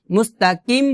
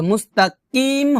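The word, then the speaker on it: مستقيم: এখানে আমরা কিম বলবো না, যদি আমরা এখানে মুস্তাকিম বলি তাহলে কিন্তু আমরা কাফ উচ্চারণ করতেছি, কাফ, আর এখানে কিন্তু কাফ না, এখানে হচ্ছে কফ।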